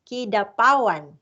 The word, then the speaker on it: Kidapawan: pronounce kidapawan or kidapawan kidapawan yeah that's kid of pawan by the way is